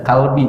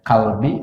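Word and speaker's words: قلبي: Allahumma ya muqallibal qulub tsabbit kade sanes qalbi ya. Tsabbit qalbi ala dinik. Iya betul, kalau bacanya kalbi artinya bukan hati, tapi nah gitu.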